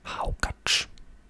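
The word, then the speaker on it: hákarl: we have iceland with something that's written as hakarel but it's pronounced as haukach i'ma just let that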